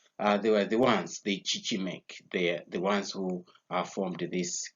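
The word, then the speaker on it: Chichimec: Now, this one, it was founded by this Chichimek. Chichimek, that's how I pronounce it. You can make your own pronunciation there, but as for me, I take it Chichimek.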